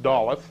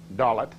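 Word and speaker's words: דלת: Okay, in the Hebrew, it's pronounced Dalet. Dalet.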